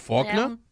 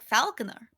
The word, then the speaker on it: Faulkner: A lot of people, it's like Falconer. Like, oh, it's Falconer? It's not Faulkner? Isn't it F-O-U? No, it's F-A-L. It's Falcon. Shit. Like someone who trains falcons, a falconer.